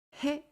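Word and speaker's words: へ: is used in words his pronunciation is he but when used as a particle it pronunciation changes to e likes valve e in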